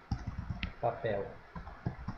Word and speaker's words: papel: Papel. Papel. Sílaba tônica, papel. É essa daqui, ó. Sílaba tônica é a última.